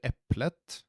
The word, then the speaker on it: eplet: å merke at vi vi skriver eplet men vi uttaler det eple så tenen er stum samme med et hus